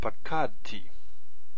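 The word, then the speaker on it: פקדתי: And our stress stays here. So just like this one here. Pakadti.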